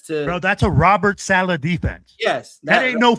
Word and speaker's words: Saleh: The defense Robert Saleh. Yeah, put some respect on that motherfucking name. Robert Saleh, like, he went out there and he beat him.